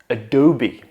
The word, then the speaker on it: Adobe: Now this one starts with a simple caveman sound known as the schwa sound. Just that. Then for the primary stress we get do. Do. So ado. And finally, simple B. Adobe.